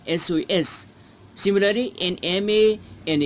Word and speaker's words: SOS: let me read this we use n before abbreviation whose whose first letter has a vowel sound okay for example an SOS message and SOS missus okay s s is consonant letter if you pronounce s it has in cell bowel sound that that's why and SOS similary and ma and